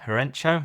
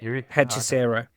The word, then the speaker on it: Hechicero: So I had MJF and Herencho, is that how you say it? Hechicero.